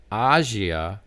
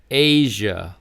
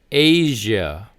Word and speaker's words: Asia: Not Azia, it's Asia like the letter A. So again, Asia. Asia.